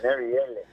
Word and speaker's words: Marielle: I got to always make sure I pronounce it the French accent, Marielle.